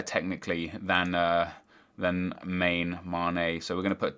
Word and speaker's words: Mané: here we got s sadio mané or Maine um I don't know how you guys pronounce it I've always read it as Mane because of the little uh the little accent over the top of the E and then we got